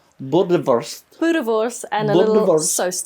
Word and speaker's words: Boerewors: So today, Deborah is going making, pronounce it, Deborah? Boerewors. Boerewors.